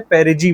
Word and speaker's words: perigee: और जब ये सबसे क्लोजेस्ट होता है तो हमें क्या बोलते हैं, पेरिजी बोलते हैं इसको हम लोग, ठीक है। पेरिजी, पेरिजी स्पेलिंग मैं देख लेता हूँ एक बार।